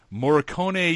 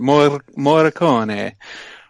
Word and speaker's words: Morricone: The YouTube pronunciation was actually much fancier. There were some rolling R's in there, and it was nice, but I wasn't going to try and pull that off.